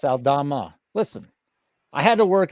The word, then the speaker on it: Aldama: In the Memphis game, you got Aldama over 9.5. Aldana. Aldana. It's Aldana. There's an Aldana and an Aldama. Oh, it's someone else? No, it's Santi Aldana. It's Aldama. Yeah, it's Aldama.